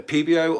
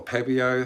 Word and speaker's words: PBO: It's either PBO or Pebio, however you want to pronounce it.